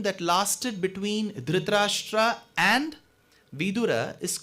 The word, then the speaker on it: Vidura: while you pronounce words if you stress on the da making it vidhura the meaning will change because in samskritam means widower vidura means Vice so the conversation that lasted between drashtra and vidura is called viduraniti that